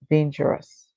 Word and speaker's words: dangerous: The O is silent, and then we hear the US say us. Together, they make the sound us. So our word here is danger, us, dangerous.